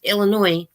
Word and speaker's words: Illinois: Connie where she lives Illinois mm-hmm I pronounce it with the yes but a lot say just Illinois because the S is silent but see I think